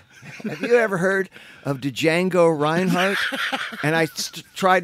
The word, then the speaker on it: Django Reinhardt: And she says, have you ever heard of Django Reinhardt? And I tried not to laugh. Folks, if you don't get it, it's Django Reinhardt. You don't pronounce the J.